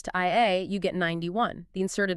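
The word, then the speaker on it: 愛: In Japanese, the phonetic word for love is pronounced I.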